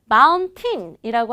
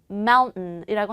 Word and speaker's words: mountain: 저희 아빠도 등산은 무진장 좋아하시는데 mountain이라고 하지 않고 T하고 N 사이에 모음이 탁 껴있어요. 그거 뭐라고 발음해요? mountain이라고 합니다. 여러분 제가 방금 말씀드린 단어들은요.